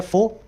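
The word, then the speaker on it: foe: अगला वर्ड है फो। फो आप जानते हैं, आपके दुश्मन को बोला जाता है, एडवर्सरी या ओपोनेंट को बोला जाता है। इसमें ई साइलेंट होता है।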